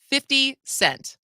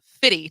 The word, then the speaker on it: 50 Cent: White people should always clearly pronounce 50 Cent. He's not Fiddy to you.